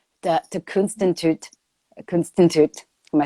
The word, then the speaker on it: Kunstinstituut: is officially going to change its name to Kunstinstituut. Am I saying it right? I'm missing a T in there somewhere. Kunstinstituut, yeah.